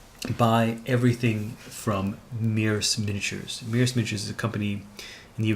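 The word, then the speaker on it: Mierce Miniatures: well I would buy everything from Mir Miniatures Mir Miniatures is a company in the UK it's spelled MI i e r c e they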